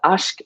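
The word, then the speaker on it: عشق: It's ashk, eshk, ishk, a word that is Arabic or Persian or Turkish, depending where you're from. There's a different pronunciation, and it's you know,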